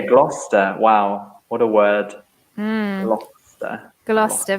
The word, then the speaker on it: Gloucester: Gloucester. Very similar to Leicester because you just pronounce Gloucester.